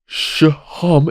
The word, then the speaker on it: Sohom: And Sohom is the correct pronunciation of your name.